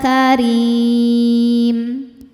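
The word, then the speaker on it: كريم: Wala karim. Huruf ro dibaca secara tarqik karena berharakat kasrah maka dibacanya tipis.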